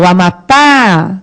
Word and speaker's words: Amapá: Amapá. Qual é a sílaba tônica? É o pá. O Amapá.